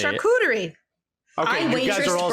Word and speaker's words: charcuterie: i feel like you could google it also charcuterie that's how i say charcuterie okay you guys are all saying you're wrong